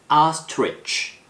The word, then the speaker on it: Ostrich: Ostrich 중간에 TR 사운드가 있어서 아스트리치 이렇게 발음하는 경우가 있는데 TR 발음은 한 번에 발음하는 거예요. Ostrich.